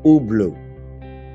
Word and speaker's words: Hublot: Sering banget orang baca merek ini adalah Hublot. Ada juga yang bilang Hublot. Ternyata yang benar adalah Hublot. Gua ulang, Hublot.